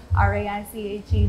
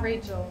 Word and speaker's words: Raiche: and then just Raiche, R-A-I-C-H-E, just in case you don't know how to spell it, because nobody ever does. And it's not Rachel, it's Raiche. It's Raiche. Get it together, okay?